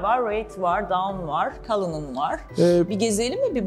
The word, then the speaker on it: Cullinan: Evet Artur, şu an Cullinan'ın önündeyiz. Neden Cullinan? Doğru mu söylüyorum bu arada Doğru telaffuzu?